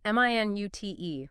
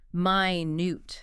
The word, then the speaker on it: minute: This one depends on stress. Right. Stress on the first syllable, M-I-N-U-T. That's the unit of time, 60 seconds. Stress on the second syllable, minute. That's the adjective, meaning very, very small.